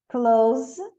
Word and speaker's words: clothes: change, change, change, clothes, close, close. Como a gente tem TH e S, fica um som de Z aqui, ó. Close, clue, clue, cologne, colon, colon, colon.